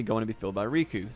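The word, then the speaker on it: Rikku: to be filled by Riku, spelled with 2 Ks, from Final Fantasy X. However, since there was already a main character named Riku, pronounced the same as Riku, she was replaced by Yuffie.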